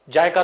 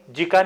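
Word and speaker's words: JICA: जायका तो है ही, जीका नहीं, इट इज जायका, जायका pronounce करते हैं उसको, जीका नहीं बोलते, जायका बोलते हैं।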